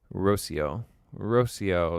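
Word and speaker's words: Rocío: Rocio is how it's pronounced, Jasmine said. Thank you very much for letting me know that.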